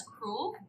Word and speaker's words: cruel: And just to confirm, you're pronouncing cruel as cruel, like a single syllable that rhymes with school.